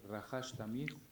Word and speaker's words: Rahash Tamif: Esta meditación se pronuncia Rahash Tamif.